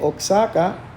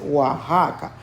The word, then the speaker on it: Oaxaca: ahí dice no hay no dice oxaca oax acá es oaxaca esa pronunciación de la xs viene del español antiguo su nombre quiere decir